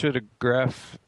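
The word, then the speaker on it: Pseudepigrapha: Visionary Wisdom Text, the Christian Apocrypha, the Jewish Pseudegraphia is how you say it.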